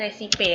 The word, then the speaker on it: recipe: R kepanjangannya recipe atau resipe, ya, Pak, cara membacanya resipe, ya.